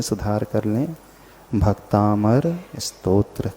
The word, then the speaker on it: भक्तामर: उच्चारण नहीं करते है इस स्तोत्र का नाम भक्तांबर स्तोत्र नहीं स्तोत्र का नाम भक्तामर स्तोत्र को मिलकर की या